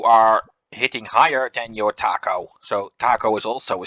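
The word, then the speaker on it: THAC0: these stats called uh we always call that taco d h a c0 in which we pronounce the zero as no uh Taco means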